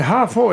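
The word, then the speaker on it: 哈佛: And Hafo is phonetic for Harvard, 2 syllables.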